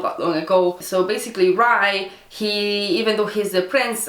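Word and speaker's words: Rhy: and like, it's spelled, Rai is spelled R-H-Y, and when I read like R-H-Y and then apostrophe S for like Rice book or Rice whatever, I just kept wanting to call him Riz, and I was like,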